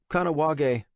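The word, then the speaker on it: Kahnawake: Kanoag, he pronounced it.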